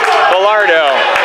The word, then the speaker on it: Bellardo: shot by shane gonna call pete bellardo that is correct pronunciation according to the fans